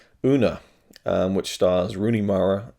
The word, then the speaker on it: Una: how you pronounce it una not yoona una um which stars rooney